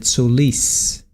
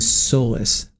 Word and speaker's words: Solis: right and Oscar Solis that's the way they pronounced it sois I was saying soless OCT Oscar Solis all right so here's a